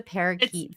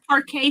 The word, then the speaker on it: parquet: Like, what is a parakeet floor? It's parquet floors that she said it wrong.